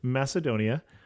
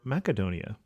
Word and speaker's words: Macedonia: expect it, and then I'm going to say it right, Macedonia or Macedonia.